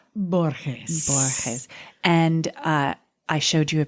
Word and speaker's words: Borges: I mispronounced her name. Is it Borges? It is, yes. Cibella Borges.